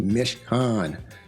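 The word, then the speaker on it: מִשְׁכָּן: Mishkan. Mishkan. Okay, Hebrew word, pronounced Mishkan.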